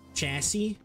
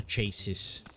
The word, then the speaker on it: chassis: like a a fancy chassie chassis is that how you pronounce it you don't you don't say the S at the end I always called it the chases yeah yeah yeah yeah